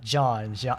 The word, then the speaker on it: Jean: those sort of names i also took french class so that's how we pronounced um instead of gene it's john but i understand it's